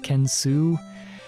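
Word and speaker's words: Kensou: some reason the french way ken soh but pronounced kensu kind of gross to me but technically not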